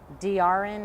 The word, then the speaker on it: Derrain: DRN is how he pronounces it, but it's spelled like DERRAIN.